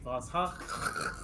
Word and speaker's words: Voshach: Voshach. Close. It's you gotta pronounce it from the back of the throat. But I'll back let of the that throat. one slide. I'm playing Voshach.